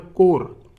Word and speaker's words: corps: So it is not a corpse, it is a core. You can pronounce it like core.